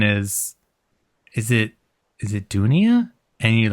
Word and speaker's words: Dounia: conference and someone is, is it is it Dounia?